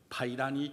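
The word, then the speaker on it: 白蘭: 여주인공인 중국 여인의 이름입니다 한자로 쓰면 백난입니다 우리말로 하면 백난이라고 해서 하얀 난초코치라는 뜻이죠 카이라는 하얀 목련이라는 이름을 가진 또 하얀 난초꽃이라고 하는 이런 예쁜 이름을 가진 중국 여성을 원래 발음으로 부르면 파이란이 되는 것입니다 지금으로부터 21년 전인 2001년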